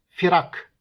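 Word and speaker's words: فرق: fırka Bölük cemaat demektir bunun çoğulu ise firak kesinlikle uzun A şeklinde okumamak gerekir Millet kelimesinin çoğulu Milel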